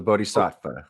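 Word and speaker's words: bodhisattva: way of and I you're gonna have to pronounce it for me the Buddhist way of the bodh SAA yeah there we go yeah that well sure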